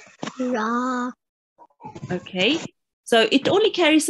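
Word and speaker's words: ر: Ra. Ra, well done. And make sure to round your mouth with ra as well, okay? Because you will have to pronounce it thickly a bit, okay?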